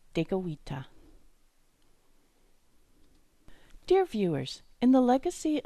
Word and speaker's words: Tekakwitha: For example, Saint Kateri Tekakwitha's name and that of her community, KAHNAWAKE, have Mohawk pronunciations with French spellings. So for English speakers, the important thing to remember is that the letter K gets a G sound.